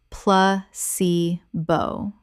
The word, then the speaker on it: placebo: Correct pronunciation, pla-ce-bo. The stress is on the second syllable, ce.